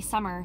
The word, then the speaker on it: Sammar: And then they decided to name me Sammar, but spell it S-A-M-M-A-R.